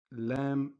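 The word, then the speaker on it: لا: When you see it, just know that it is pronounced as La, like the word La'ib.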